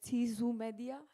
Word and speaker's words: Ceesu Meedia: And the broadcast is provided by our partners, Ceesu Meedia, right? I pronounced it correctly.